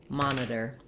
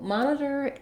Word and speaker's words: monitor: So first of all, the word has first syllable stress.